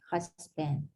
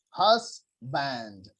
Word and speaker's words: husband: in in this one the pronunciation of this one is husband husband husband yeah it's not banned it's not banned because some people uh like here in my country what they are saying huss band house band it's not